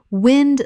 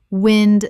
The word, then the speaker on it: wind: Wind the noun, moving air. Wind rhymes with pinned. Wind the verb, to twist or coil. Wind rhymes with find.